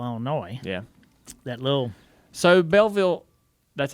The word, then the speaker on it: Belleville: went to Belleville Illinois yeah that little so Belleville that's how you say it uh Belleville B